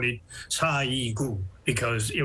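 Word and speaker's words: 사이구: Well, 30 years ago, April 29, here in Korean American community, we call it Sa-i-gu because it rhymes with April 29th.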